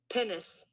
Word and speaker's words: pinnace: warship or large vessel how do you pronounce it penis just how I pronounced it penis penis penis okay my bad I always put an L in there cuz it just made